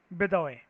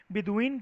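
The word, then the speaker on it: Bedouin: बेदौए कह सकते हो उसको, अलग अलग लैंग्वेज के अंदर जैसी जो वर्ड की प्रोनाउंसिएशन होती है, बिदुइन कहते हैं कई लोग इसको, तो हम लोग इसको बिदुइन मान के चलते हैं, ठीक है।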